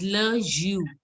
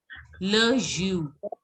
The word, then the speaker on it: jus: In this, you don't have to pronounce the S. You have to pronounce it as Le Jus. Le Jus.